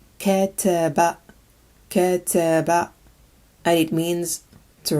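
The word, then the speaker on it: كتب: This word is pronounced kataba, kataba, and it means to write.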